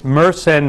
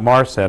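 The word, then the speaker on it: Mersenne: that Story one is it's meren not maren I was mispronouncing it and the second is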